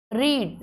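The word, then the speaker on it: read: कोई चेंजेज नहीं आए रीड रीड मींस पढ़ना लेकिन प्रोनंसिएशन थोड़ी चेंज है रीड रेड रेड जबकि यहां पर जो स्पेलिंग्स है वो सेम है राइड राइड मींस किसी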